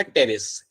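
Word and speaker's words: Pteris: दूसरा एग्जाम्पल मेरा यहाँ पे होगा टेरिस. पी यहाँ पे साइलेंट रहेगा, and second example is माय टेरिस.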